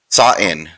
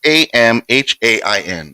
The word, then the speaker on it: Samhain: Sa'in. Saw in. It's Samhain. Looks like Sam Hain, but it's pronounced Sa'in.